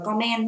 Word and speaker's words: comment: Chứ các bạn đừng đọc là comment nha. Bởi vì lý do chúng ta sẽ có trọng âm của từ đấy là thứ nhất, comment, comment.